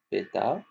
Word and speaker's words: pétard: P-E accent, on a dit. P-E accent. T-A, pétard. R, pétard. D, sans prononcer.